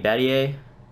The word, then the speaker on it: Battier: Shane Battier, that's how you say his name.